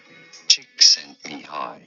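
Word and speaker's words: Csikszentmihalyi: try and say it may heil me hi chick sent me high teeth sinned me hi me hi chick sent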